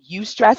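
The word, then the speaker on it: eustress: what's called distress stress the normal stress is called UST stress and it's spelled EU stress and so that's the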